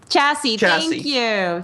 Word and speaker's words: chassis: How do you pronounce that? Chassis, right? Chassis.